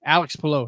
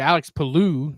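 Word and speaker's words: Alex Palou: And then of course Chip Chip Ganassi pronounces his name wrong during the post race interview. Alex Paloo. You're like, "Oh that is that right? Have we been saying that right the whole time?"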